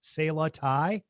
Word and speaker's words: Sala: they only accept cass i believe it's pronounced uh salah s-a-l-a sayla and i've had curry